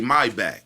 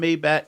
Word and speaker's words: Maybach: Maybach. He say my back.